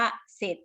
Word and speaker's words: เสร็จ: ศ ลา ส เสือ นะ คะ ถ้า ควบ กล้ำ นะ คะ จะ ควบ กับ ตัว รอ แต่ จะ ไม่ ออก เสียง ตัว รอ อย่าง เช่น คำ ว่า